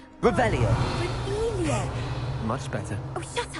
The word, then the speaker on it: Revelio: Rebellious. You're saying it wrong. Revelio.